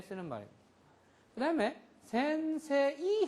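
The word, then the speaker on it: 先生: 장음으로 길게 해 줘야 됩니다. 센세이 이렇게 하 센세이 오하요구자이마스 이게 아니고이 발음을 없애요. 센세에 세의 에에 센세 2로 표기를 하지만은 새 세 2의요 이음이 장음으로 요만큼 길이기만큼 더 해 주는 것뿐입니다. 요음 플러스 그래서 센세 이렇게 되는 겁니다.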